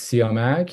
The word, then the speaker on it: Siamak: My first name is Sak and last name is.